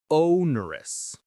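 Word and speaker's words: onerous: Ownerous. Ownerous. Ownerous. Ownerous. The stress is on that first syllable o.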